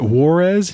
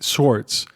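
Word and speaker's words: Schwartz: She's like she's like Warz. And he's like Schwarz. My name is Schwarz.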